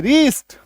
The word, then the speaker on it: wrist: Example देखो, WRIST, शुरू में WR आ गया, W को काट दो अब पढ़ो RIST, रीस्ट।